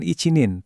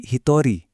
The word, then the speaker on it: hitori: Satu orang itu bukan icinin, tapi hitori. Dua orang itu futari.